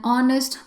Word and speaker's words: honest: certain cases you have words with silent h sound like an honest player so the word starts with edge but the sound starts with o i repeat the word